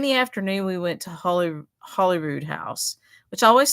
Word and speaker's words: Holyrood: I want to say Holy Road because that's what it means. So Holyrood is an old pronunciation of Holy Road.